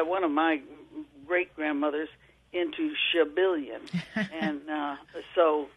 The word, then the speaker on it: Schabilion: My maiden name was Schabilion, spelled S-C-H-A-B-I-L-I-O-N. It heralded from Alsace-Lorraine and was actually pronounced Chabillon.